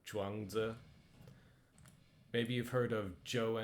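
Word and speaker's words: 庄子: ZH is a j sound, so Zhuangzi.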